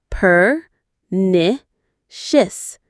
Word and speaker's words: pernicious: Let's try that one. Peritious. Per nicious. Stress on the second syllable. Ni. Pernicious.